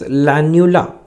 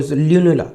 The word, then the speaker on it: lunula: Then we have something known as lanula which you can see in this image also. Lanula. Okay. Sorry. Lunula. Sorry. I'm sorry. Pronunciation. Lunula.